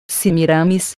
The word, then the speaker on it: Semíramis: cidade fundada pela rainha semiramis cujo nome aqui deve ser pronunciado como paroxítona semíramis e viviam em casas